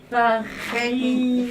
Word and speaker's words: farine: fenny, Farine. farine, Et là, le E, à la fin, on le prononce pas.